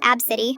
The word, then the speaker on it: Abcde: Abcde, pronounced Absidy.